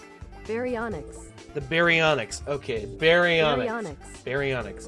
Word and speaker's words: Baryonyx: Pronunciation. Baryonyx.